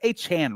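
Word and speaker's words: Achane: Well, what do you think about the A-Chain angle, though? Dollar Dave said he loves A-Chain. Am I saying it right? It's A-Chan, right? Devon A-Chan. Yeah. A-Chan.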